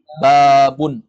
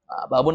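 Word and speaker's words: بابٌ: albabu albabu dengar al-nya hilangkan al-nya menjadi apa babun jangan ragu lagi babun atau babu jawabannya babun karena tidak ada Alif Alif Lam babun babun artinya apa kalau albabu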